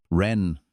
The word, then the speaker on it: Wren: "Malachi, if you like your syllables long, "Ren," she said. Like the bird, I figured.